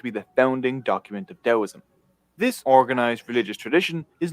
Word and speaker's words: Taoism: It's not Taoism. It's spelled with the T, but the T is pronounced with the D.